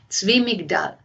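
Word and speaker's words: Zwi Migdal: The name is Zvi Migdals. It's spelled Z-W-I. The second word is M-I-G-D, as in David A-L. Zvi Migdal.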